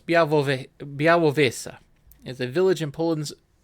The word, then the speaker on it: Białowieża: Oh, and now it has a pronunciation guide. Białowieża. Okay, I was pretty close. Białowieża is a village in Poland's Podlasie province, in the middle of the Białowieża.